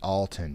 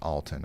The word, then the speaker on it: Alton: Oh, so Alton is pronounced Alton, not Alton.